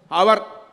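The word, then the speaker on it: hour: அங்க ஒலி மாறுபாடு உண்டு ஹெச் ஓ யூ ஆர் அவர் அது மணி ஆனால் அதை ஓ யூ ஆர் என்றுதான் உச்சரிக்கிறோம் அதே மாதிரி ஓ யூ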